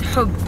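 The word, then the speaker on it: حب: It's called hub. Yeah. Hope, like. Hub. It's like you're giving a kiss, but a word.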